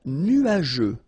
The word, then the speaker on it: nuageux: Un ciel couvert, un ciel nuageux. This can be quite tricky, but take the time to nuageux. Remember, final X here not pronounced.